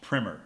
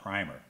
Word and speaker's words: Primer: calm and that's right that's pronounced Primmer not primer but to me the